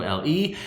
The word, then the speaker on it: Le: i n g o l e and so your last your last name is pronounced Lei yeah Le you introduced as